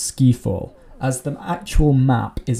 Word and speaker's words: Ski Fall: at today guys is a play on words from the james bond film skyfall but it is actually pronounced ski fall as the actual map